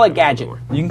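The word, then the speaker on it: GDGT: the Twitter handle is GD GT Gadget like Gadget without the vows if you want to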